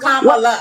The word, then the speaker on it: Kamala: But it's pronounced Kamala.